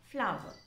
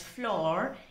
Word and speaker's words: flour: l o u r should not be pronounced as floor it is flower it